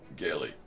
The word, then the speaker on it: Gilly: Is it with the hard G or the J?